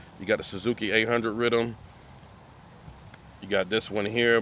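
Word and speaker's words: riddim: It's technically pronounced rhythm, but the island folks call it rhythm, R-I-D-D-I-M.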